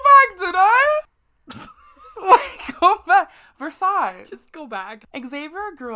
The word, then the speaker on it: Versailles: was did you just you just pronounce the s in versailles should we pause go back did i wake up versailles just go back xavier